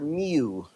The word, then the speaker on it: mu: It is the Greek letter mu not to be confused with moo. And um just to attach to to something that you will always have right, it is of course uh the same pronunciation of as the Pokemon Mew, not Mewtwo, Mew Mu.